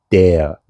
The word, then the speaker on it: der: Der, D-E-R. Der, der. La R no se pronuncia tanto como en el castellano, sino muy suave.